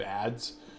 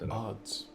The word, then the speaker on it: Adz: the the age of ads you know it's like we heard the uh oh it's odds by the way it's pronounced odds oh odds okay yeah age of